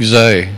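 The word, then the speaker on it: Xay: How do you say his first name? X-A-Y. I think Zay.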